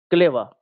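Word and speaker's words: clever: मक्कार को मक्कार या फ्रेवी इंसान को बोलते हैं क्लेवा। टी एल ई वी ई आर क्लेवा। क्लेवर हम उसमें लास्ट में आर रहता है लेकिन आर साइलेंट हो जाता है तो क्लेवर नहीं कहते हैं क्लेवर हम लोग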